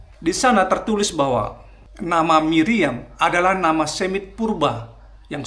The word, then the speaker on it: Miriam: Nama wanita tersebut tercatat dan diucapkan sebagai Miriam atau Miriam.